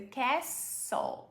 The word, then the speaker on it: castle: The castle, esse T não existe na pronúncia.